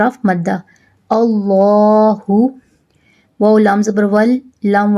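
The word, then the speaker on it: اللهُ: If the letter before the lam of the Allah carries zabar, then the lam of the Allah will be pronounced in thick tone.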